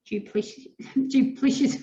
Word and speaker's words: duplicitous: build reserves of trust if they are inwardly duplicitous.